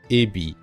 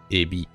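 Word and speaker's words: えび: Alors, l'intonation, c'est pas Ebi. C'est Ebi. Si vous dites Ebi, on va vous entendre serpent, qui s'écrit comme ça.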